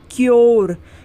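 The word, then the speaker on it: cure: ई इसमें यू के बाद आर ई है तो यू को हम यो पढ़ेंगे हम क्या क्या पढ़ते हैं क्योर क्योर पढ़ते हैं ना यू को क्या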